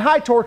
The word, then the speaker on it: Hytorc: are the lion guns from high torque and high torque is spelled h-y-t-o-r-c and lion guns not meaning in